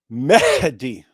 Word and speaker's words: Mehdi: It's Mehdi. You see the H there?